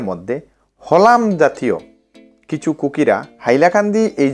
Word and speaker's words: হাইলাকান্দি: ঠিক আছে, তো এখানের এই অঞ্চলের মানুষেরা তালিব্য শকে হ উচ্চারণ করে, তো সাইলাকান্দি থেকে তারপর ধীরে ধীরে হাইলাকান্দি হয়েছে।